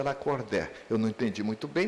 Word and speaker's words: Lacordaire: nome é muito bonito, escreve lacordar, ele pronuncia lacordé".